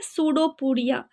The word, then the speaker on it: pseudopodia: Here p silent, you need not to pronounce p, you have to say pseudopodia.